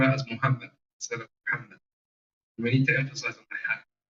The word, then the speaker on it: Muhammad: And the reason for that, when you pronounce the word Muhammad in the Shahada, in the Adhan, it came out sometimes as a ha. It was substituted for a ha.